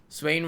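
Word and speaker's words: Swaine: Swain rhymes with rain.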